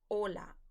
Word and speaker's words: hola: age in spanish is silence so you don't pronounce it okay so all you're saying is hola o l a now we also have another